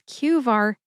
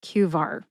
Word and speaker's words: Qvar: It is QAR, not Q. It's not like adv. It's just QAR.